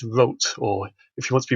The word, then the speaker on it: Roth: last few years have pronounced his surname as he would have done which is wrote or if you want to be really Germanic about it with a kind of rolled RO.